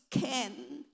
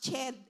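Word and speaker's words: חן: It's ken and kesed. So I thought it was chen and chesed, but I researched and the way they pronounce it is ken and kesed.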